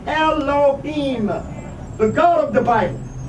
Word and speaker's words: Elohim: various agendas deliberately masks profound truths about Elohim pronounced Elohim the God of the Bible they intentionally obscure